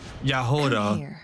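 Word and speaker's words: Jahoda: Yehoda. That's how you say her name.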